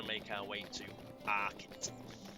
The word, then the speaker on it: Archet: make our way to arit it's probably pronounced archit because there is a wood around it called Chet wood so it is probably